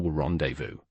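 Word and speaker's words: rendezvous: What about aquas or rendevu? Choir sounds like choir, not choir. Rendevu is a lone word from French. It keeps its original French sounds.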